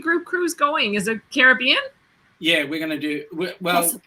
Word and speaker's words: Caribbean: And then, notice I pronounce it properly, the Caribbean.